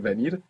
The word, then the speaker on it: venir: you would get the Venir. spelling venir. But more commonly, you would hear venir, venir, like a soft B. Venir. Firstly, let's say, Venir. do you want to come? Quiere Do venir.